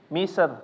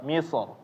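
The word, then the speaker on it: مصر: Maka jangan sampai membacanya menjadi misr, tipis ya. Karena ini tidak ada contohnya. Atau ini adalah pendapat lain yang menyelisihi buku. Jadi kita tetap membacanya secara tebal, misr, ya.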